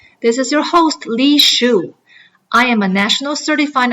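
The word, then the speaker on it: Xu: I just told people if you remember you're wearing a shoe you remember my last name you can just call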